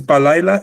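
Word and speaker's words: בַּלַּיְלָה: From B, balayla, we go to valayla, a V sound.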